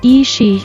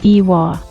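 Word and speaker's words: 石: The character ishi is usually read as ishi in the past, however, it was reportedly pronounced as iwa. This can still be seen today in place names like Iwami, which is written as Ishimi and read as Iwami.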